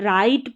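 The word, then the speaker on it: write: जैसे कि यहां पर राइट पढ़ेंगे। डब्ल्यू को नहीं पढ़ रहा।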